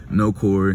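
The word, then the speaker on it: Nakhori: so my name is no Corey but you spell it n-a-k-h-o-r-i so that's why I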